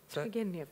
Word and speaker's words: Turgenev: Is it Turgenev? Turgenev, yeah. Turgenev. Yeah.